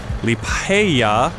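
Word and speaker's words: Liepāja: And I've got a truck full of protective clothing, 20 tons worth, headed to Liepaja. I believe that's how it's pronounced.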